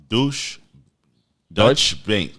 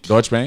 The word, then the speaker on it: Deutsche Bank: I'm gonna give a shout out to Dutch Bank. Deutsche Bank. Okay. I apologize. It's spelled DEU. Dutch Bank. Dutch Bank. Deutsche Bank. Yeah.